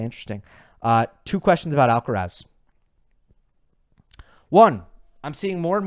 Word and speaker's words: Alcaraz: would bother more people if I personally started saying alcareth I think that would bother more people okay next one from spatula with kurd okay interesting uh two questions about alcaraz one I'm seeing more